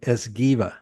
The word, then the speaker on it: Esgueva: I gotta pronounce it right. Thank you, Esgueva. Or no, wait, Esgueva. Did I say that right? That's perfect. That's Esgueva.